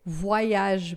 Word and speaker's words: voyage: Se for o o e o y, né, o o com o Y, aí vai ter um som de why igual o do mineiro. Então a gente vai dizer voage, por exemplo, netoage, employe, tá? Então é why.